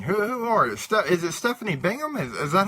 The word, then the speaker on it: Stephanie Bingham: Is it Stephanie Bingham? Is that how you pronounce it? Yes, it is. Okay, so who is Stephanie Bingham?